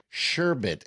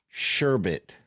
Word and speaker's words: sherbet: The most accepted and historically accurate pronunciation and spelling is sherbet. Okay, which comes from the Arabic word shba. However, sherbet is a widespread variant pronunciation and spelling in America.